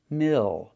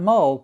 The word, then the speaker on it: mill: Use the I sound plus the dark L. Mill, not mold, but mill.